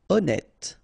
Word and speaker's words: honnête: Honnête. So remember, H doesn't exist. Honnête.